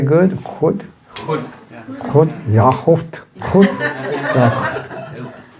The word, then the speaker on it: goed: Goed.